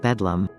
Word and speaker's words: Bedlam: Londoners abbreviated Bethlehem Hospital to Bethlehem, with a colloquial pronunciation of Bedlam.